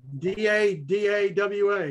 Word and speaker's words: Dawa: But I want to learn more about Dahwa. Is that how it's pronounced? You said Taqwa? Yeah. D-A-W-A, right? D-A. Dawa. Dawa.